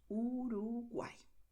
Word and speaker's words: Uruguay: And pay attention because the letter Y at the end of the word always sounds like I. So Uruguay.